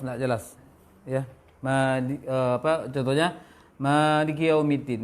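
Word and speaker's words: مالك يوم الدين: Maliki yaumiddin. Maliki kiau. Seakan-akan sukun kafnya. Kedua? Yang kedua, pengucapan ya fathah.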